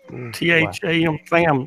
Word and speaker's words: Tham: THAM Tham's World.